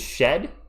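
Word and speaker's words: Shead: Oh, Jamal Sheet is shed. My apologies. It's pronounced shed. I'm just going to take the letter A out of his name so I know it's shed.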